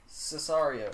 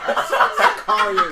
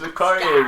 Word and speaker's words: Sicario: The Revenant, Roger Deakins, Cesario. Oh, fuck. Sicario. It's Sicario, man.